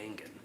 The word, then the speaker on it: Engen: Is it Engen, like an engine, or is it Engen? I thought I heard her say Engen. It's the latter.